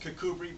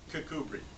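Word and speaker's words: Kirkcudbright: she was born in a little town called cbri Scotland it's a Border Town it's right on the coast it's it's pronounced cbri but it's spelled Kirk cud bright but it's cbri and her parents had a a chance to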